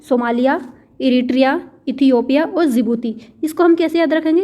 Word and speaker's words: Djibouti: Somalia, Ethiopia, Eritrea और जिबूती। जिबूती में जो डी होता है वो साइलेंट रहता है।